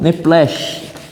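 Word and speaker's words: נפש: A palavra alma é nephesh, ou neplesh. Mas eu acho que a pronúncia mais correta é neplesh.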